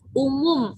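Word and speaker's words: Oemoem: Nah, BPPKI melakukan kegiatan Perkino atau Perkemahan Kepanduan Indonesia Umum. Ingat ya, kalau ini tulisan zaman dahulu, kalau O sama E itu dibacanya U, jadi bukan dibaca OM ya, jadi dibacanya umum. Nah, itu berdasarkan ejaan pada zaman dahulu, kalau sekarang dibacanya U.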